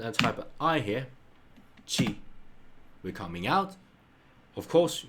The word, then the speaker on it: ち: So it's ta, chi, chi, chi, chi, chi, chi. So it's like ch, e, ch, e. So it's not t, but rather chi.